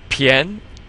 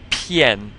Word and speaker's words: 片: And then this 偏 is just like 先, like in 先生, the word for Mr. Except instead of the she, you have the p. Pn. 偏. It's almost like saying the letters P, N.